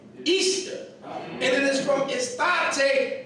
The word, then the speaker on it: Astarte: This is Astarte, pronounced Easter.